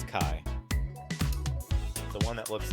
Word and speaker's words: Chi: it up that's pronounced Chi something I don't know I'm looking for it on Wikipedia this one it's spelled Chi oh it's pronounced Kai k k pronounced Kai yeah it's Kai the one that looks